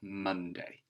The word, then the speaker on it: Monday: well this is a fairly normal spelling except that this letter here isn't making an o sound it's making an a sound so it's a little bit unusual you'd think that it was a letter u here but this is how we spell monday so just remember that it's an o after the m let's have a look